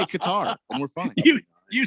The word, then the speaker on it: Qatar: Qatar is how it's pronounced. Like if you go to Qatar and want to pronounce it the way the locals pronounce it, it's Qatar.